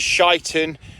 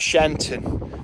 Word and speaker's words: Sheinton: not rattling hope and this is shyon not shenton but luckily before I